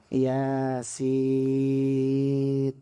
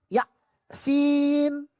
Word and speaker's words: Yasin: Nun, Yasin. Jangan sampai nanti Yasin dia bacanya ya, sin. Ya, ada hamzahnya. Tapi kalau sudah terbiasa Yasin. Nah, itu latihannya karena sebagai